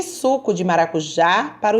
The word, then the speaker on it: maracujá: para o jantar o maracujá com som bem aberto então já é a sílaba mais forte vai receber uma cento